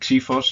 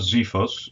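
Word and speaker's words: ξίφος: we have the key Force and we actually pronounce it cephos and not zephos so or zyphos or whatever uh the key Force is is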